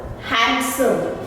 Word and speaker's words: handsome: D is silent. Handsome, handsome, not handsome, handsome.